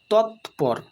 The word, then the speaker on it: তৎপর: বর্গজ হসয় খন্ডত জিত তৎপর তৎপর ত খন্ডের তৎ অর্থাৎ এখানে ত এর পরে খন্ডেরত আছে তাই উচ্চারণ হল তৎ পর র অর্থাৎ এর সম্পূর্ণ উচ্চারণ করলে উচ্চারণ হবে তৎপর তৎপর তৎকালীন তৎকালীন এখানে দেখো